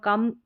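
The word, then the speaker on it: come: यहाँ पर COM, ठीक है, COM है, इसको कम पढ़ेंगे, लास्ट में ई है ना, ये साइलेंट है।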